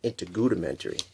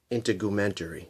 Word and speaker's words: integumentary: you may have noticed that I've been saying in to Goethe mentoree it's a integumentary is the correct pronunciation probably going to find a few mispronunciations